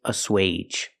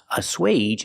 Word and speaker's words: assuage: the last word is assuage a swage is a verb and it has a long a sound for AG G age assuage means to make